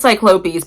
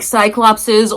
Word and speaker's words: cyclopes: By the way, I pronounce it cyclopes. People they the show keeps saying like cyclopses or cyclops as the plural. I say cyclopes.